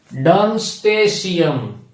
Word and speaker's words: Darmstadtium: It is pronounced as Siam, not Tiam. Dumpstead, Siam. ગુજરાતીમાં લખી દઉં તો Dumpstead, Siam. ભેગું કરી દઈએ તો it is Dumpstasium.